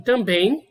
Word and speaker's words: também: E da mesma forma, em também, eu também tenho uma letra M aqui, essa letra final M aqui, com som de I também. Você pronuncia também.